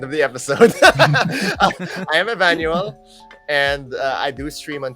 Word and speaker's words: Evanuell: e l l uh whenever people ask me how to pronounce it just pronounce it like Emmanuel but it's Emmanuel or something and I'm